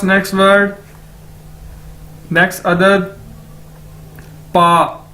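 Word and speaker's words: 八: Okay, उसके बाद है जी हमारे पास नेक्स्ट वर्ड, नेक्स्ट अदद, पा, बी ए, पा। चाइनीज में बी को कैसे प्रोनाउंस करते हैं? पी के तौर पर, पे के तौर पर।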